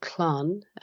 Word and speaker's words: Clann: And it's important to let your listeners know of this initiative, because this group called Clon, which is spelled CLANN, they're assisting anyone who